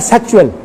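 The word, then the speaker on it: schedule: ہم ایک لفظ استعمال کرتے ہیں پروگرام کے لیے لفظ شیڈول. شیڈول یہ غالباً امریکہ شیڈول کرتا ہے. برطانیہ جو کہ اپنے آپ میں بڑا فن خواہ ہے, برطانیہ کہتا ہے سیکچول. سپیلنگ ایک ہے.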